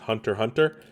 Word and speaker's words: Hunter x Hunter: say the X right like I know in anime like Hunter x Hunter is actually just Hunter Hunter so I I don't